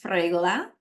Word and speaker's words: Sfregola: for having me uh my last name is pronounced fra so there there are three consonant and the r has to be rolled so there's a lot